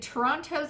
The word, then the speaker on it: Toronto: the very very talented toronto own jared nathan woohoo and yes i sometimes pronounce the second tea in toronto i'm not from here